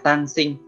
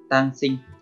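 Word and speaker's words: 単身: Cách đọc của nó là tang sinh, tang sinh.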